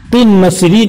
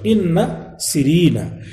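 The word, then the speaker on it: قنسرين: چاہیں چلے جائیں، او قن سرین، قن سرین اس کا تلفظ ہوگا، قن سرین یا قن سرین، جس کو قن سرین لوگ اردو میں پڑھ دیتے ہیں.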